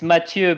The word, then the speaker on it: Mathieu: Well, it's Mathieu because it's French, so it's not Mathieu as like Matthieu, right?